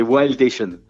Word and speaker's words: Wildation: À l'anglaise plutôt, c'est mieux. C'est Wildation.